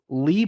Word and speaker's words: Leigh: Lee Brown, but Lee spelled like my mother's middle name, Leigh. So like slave, but with no S.